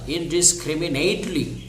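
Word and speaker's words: indiscriminately: ডিসক্রিমি neat N এ টি ই এল আই ইন ডিসক্রিমিনেটলি ইন ডিসক্রিমিনেটলি এই ইন ডিসক্রিমিনেটলি নির্বিচারে নির্বিচারে তারা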